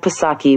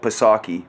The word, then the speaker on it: Psaki: they call a snippet, they said Psaki, P-S-O-C-K-E, and then they're saying pronounced S-O-C-K-E.